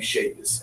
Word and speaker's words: Shavis: My Facebook is, K-A-S-I-M, K-A-S, last name Shavis, S-H-A-V-I-S. Let's say it right.?, Shavis. Spell it one more time.